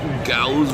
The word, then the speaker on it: Gauss: Gauss rhymes with cows.